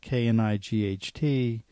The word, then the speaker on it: knight: we're reading if you see a word like k-n-i-g-h-t you have memorized that that's pronounced Knight and so when with that memorization